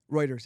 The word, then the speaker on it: Reuters: Reuters, yeah.